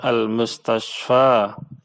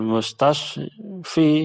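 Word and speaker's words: المستشفى: Kemudian contoh berikutnya al-mustashfa. Ketika kemasukan huruf jar tetap pengucapannya sama. Fil mustashfa, minal mustashfa, ilal mustashfa, ya. Tidak menjadi fil mustashfi, ya.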